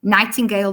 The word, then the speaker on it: Nightingale: So it's my surname like it's spelled here and then o dot and t a r y nightingale like the bird the the bird nightingale and they can find